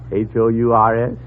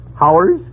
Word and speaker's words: hours: H-O-U-R-S? Oh, Howers? You pronounce it hours.